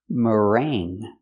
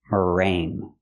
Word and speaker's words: meringue: We're going to use that sound. Mering. Mering. So there's no G. It's in your nose because you have the ng together here.